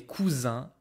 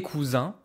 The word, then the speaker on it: cousins: Et mes cousins Marie et Louis. Careful pronunciation. This is not cousine. I don't hear the N.